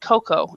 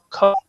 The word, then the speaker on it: cocoa: word everywhere in the world, but we actually pronounce it cocoa in English. So, cocoa.